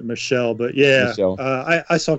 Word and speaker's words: Michel: I think they pronounce it Michelle, but yeah.